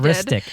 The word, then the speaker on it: Maristic: Maristic. It's artistic with an M.